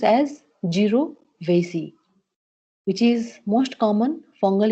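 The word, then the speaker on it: jirovecii: jovy which leads for pneumonia so it is pronounced as jov vasy which is most common fungal infection usually in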